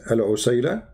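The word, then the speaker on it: العسيلة: So in the top, there's many pronunciation for the word, but the word in the hadith is al-usayla, al-usayla.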